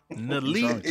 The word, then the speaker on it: NLE: No, it's acronym. It's NLE. Nali. Okay. Man? Y'all niggas acting old. Is it Nali Man, Chopper?